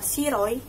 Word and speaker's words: Shiroi: Aku memiliki seorang kakak laki-laki bernama Shiroi. Bacanya Shiro. Shiro itu artinya putih.